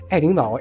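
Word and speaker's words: 爱丁堡: Interestingly, Aidingbao is also the Chinese pronunciation of Edinburgh, the capital city of Scotland.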